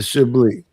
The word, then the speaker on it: Chablis: The S is silence, like the G is silent in lasagna.